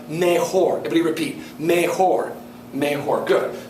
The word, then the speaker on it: mejor: LS mayoras Chas be careful there is not pronounced myor it's pronounced meor everybody repeat meor meor good so LS meor